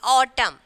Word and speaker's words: autumn: Okay, COLOUNM, column, and then autumn. Okay, N is silent. So in these three words, N is silent, condemn, column, and then autumn.